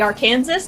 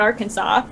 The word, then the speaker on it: Arkansas: it correctly um m-i-s-s-i-s-s-i-p-p-e-i Arkansas because it's pronounced wrong it should be Arkansas not Arkansas um New Jersey because